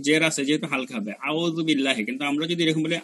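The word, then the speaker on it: أعوذ بالله: ধরেন আপনি বলবেন আউযুবিল্লাহ, আমরা সারা জীবন যেটা বলে আসছি, তাহলে আলিফ জবরা আলিফ পেশু আউ হয়ে যায়, হ্যাঁ। কিন্তু আমার যদি সঠিক উচ্চারণ বলতে আউ, তাহলে আইন আনতে হবে আউ।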